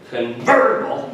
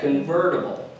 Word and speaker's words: convertible: convertible right that's great hit that emphasis on that convertible so yeah and it doesn't have to be a hard emphasis you don't have to go convertible you just very subtly yet convertible just kind of a little bit of emphasis on the on the